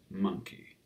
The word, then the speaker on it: Mynci: a fertilized egg cell monkey is a spelling of the word monkey using welsh spelling rules rather than a direct welsh translation and is pronounced like monkey okay thanks for joining